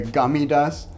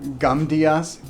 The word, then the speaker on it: Gamdias: This is a Gamidas, I think that's how you say it. No, Gamdias case.